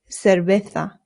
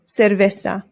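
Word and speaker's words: cerveza: Remember the C's in Spanish make a th sound, but the zeds do as well. So this isa and the v's in Spanish make a very light b sound. Not cera. Your lips just touch very lightly when you make the V sound.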